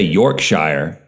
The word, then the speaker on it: Yorkshire: First of all, in England, they don't say Yorkshire. They say shire.